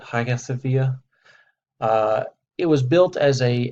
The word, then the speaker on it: Hagia Sophia: this particular structure is called the highest via that's how this is pronounced I say I'm getting close to it Hagia Sophia it was built as